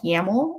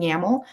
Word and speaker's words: YAML: pipelines and usually they're coded in something called yaml or it's spelled y-a-m-l and pipelines are basically just code